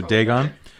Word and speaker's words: Dagon: okay so for so you want pronounce add a gun or Dagon okay so Dagon so Dagon the guidance